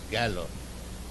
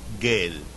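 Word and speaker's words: গেল: So the pronunciation is gallo. But he said, "Gale." So people were smiling. The audience, they were smiling.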